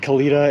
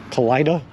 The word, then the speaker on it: Kalida: Apparently though, Floppy, I've been told I pronounced Kalito wrong. And that it is not Kalita, it's Kalida? Colitis?